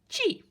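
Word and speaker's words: ち: It's like a number 5, but it's pronounced chi, a chunk of cheese.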